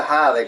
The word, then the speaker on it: Jade: Ok, se pronuncia Jade como se escribe.